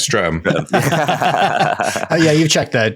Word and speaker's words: Streatham: Gogh lived in, I never know if I'm pronouncing that right, but I'm going to stick with my guns here. When Streatham, it's Streatham.